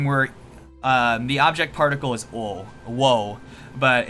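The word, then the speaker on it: を: the object particle is oh whoa but it's pronounced just o without the w sinister bean and then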